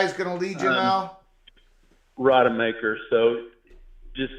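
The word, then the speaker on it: Rodemaker: major comeback for that young man but Florida rod maker is that his name is he the guy who's gonna Lead You Now Rod maker so just say rod and then instead of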